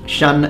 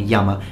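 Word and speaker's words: 山: Chinese character for mountain, which is pronounced Shan in Mandarin Chinese and Yama in Japanese.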